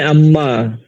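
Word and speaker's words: عمّا: तो इन दोनों को मिला के ये कहते हैं अम्मा। यानी अन्मा को जो है मिला के बोलते हैं अम्मा यानी नून के गोया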